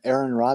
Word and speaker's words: Aaron Ra: So what kind of action would Aaron Ra be doing? Arn. Yeah, he pronounces it like the letters RN.